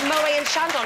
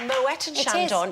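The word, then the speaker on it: Moët & Chandon: crunching up exactly and it's actually not called Mo and Shandon it's called Moet and Shandon yes indeed it is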